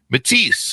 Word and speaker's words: Mattice: It's like Matise, but Matise the is with two S's. This is the way to pronounce it that's Italian.